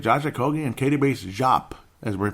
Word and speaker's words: Diop: And, of course, look at Josh Okogie and Katie Bates Jop, as we're pronouncing it correctly, folks. I can't believe how many people say Diop. Call him Jop. It's Jop.